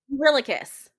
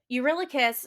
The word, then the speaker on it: Eurylochus: Eurylochus.